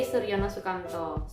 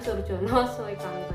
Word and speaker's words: Soerjono Soekanto: yang selanjutnya adalah dari Soerjono Soekanto bukan Soerjono soekamto yaitu karena ejaan nama